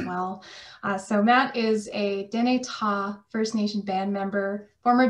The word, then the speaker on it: Dene Tha': Before we get moving, here's what I always do when people don't pronounce Dene Ta properly. Put that tip of your tongue on your teeth, right? And go, right?